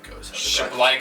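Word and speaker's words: Przybyłko: And then in the 86th minute, Przybylko. Shablyko, that's right.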